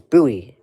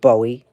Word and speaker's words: Bowie: So, I think it's Buoie, dummy. Not Bowie. I thought it was Bowie for the longest time, but no, it's actually Buoie. It's Buoie Maryland, not Bowie, Maryland. I always thought it was Bowie, but it's not. It's buoy. So, come on.